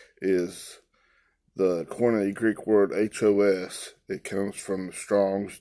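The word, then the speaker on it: ὁ: Remember, that's the definite article, H-O, ha. We're going to pronounce it ho. They pronounce it on the Blue Letter Bible, ha.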